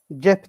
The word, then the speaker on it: cep: Yolcuların önceden aldıkları biletleri bakınız ceybe YB cep dediğimizde biz bugün böyle telaffuz ediyoruz ama Arapçadan gelen kelime olmak hasebiyle ceyp şeklinde yazılıyor.